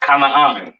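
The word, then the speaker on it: כנען: This is pronounced Canaan, all right?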